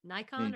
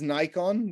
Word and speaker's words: Nikon: Okay, speaking of photography, Nikon or Canon? Nikon, not Nikon. Not Nikon. We're Texans, y'all. I had no We idea say it was Nikon. Well, I know that Nikon. Nikon in America uses Nikon.